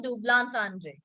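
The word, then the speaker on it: double entendre: ये हाँ भी, ना भी, equivocal words, that they are all dublantendre. This is how we pronounce it. Okay? This is not how we spell it.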